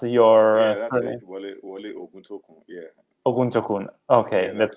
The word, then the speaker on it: Wole Oguntokun: Is it correctly pronounced? Yeah, that's it. Wole Oguntokun.